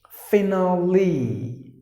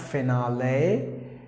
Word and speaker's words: finally: after some time right the next word is finally not finale and some even go to the extent of saying finally something like that not like that finale finale just like